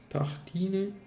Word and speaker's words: tartines: Tartine, neanche si pronuncia la E, neanche la E si pronuncia.